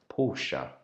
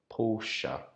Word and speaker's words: Porsche: my whole entire life I have been calling this brand Porsche but uh on checking Google and doing some research I found out that we should pronounce it Porsche Porsche Porsche do you have